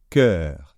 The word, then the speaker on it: cœur: on le prononce alors c'est pas très compliqué à à prononcer c'est cœur d'accord donc c'est un e e comme l'heure voir l'heure lire l'heure quelle heure est-il donc c'est un e bien ouvert d'accord et ici bah